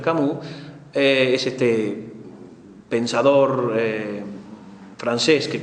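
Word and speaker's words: Camus: a ver Renault kamoud ese cabús se pronuncia cabús es este pensador francés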